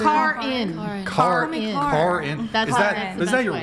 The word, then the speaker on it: Karin: Karin.